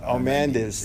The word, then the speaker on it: Aramendiz: Aramendiz. It's been butchered my whole life.